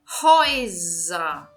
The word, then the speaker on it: Häuser: O plural de house seria Häuser. Häuser. Então, verifiquem, eu estou pronunciando com o som de Z.